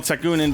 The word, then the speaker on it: Tekunin: Tekunin. Okay. I thought So you pronounced that right.